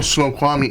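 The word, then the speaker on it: Snoqualmie: which as you know Fanboy as you know snow kwami is up in Washington I learn I just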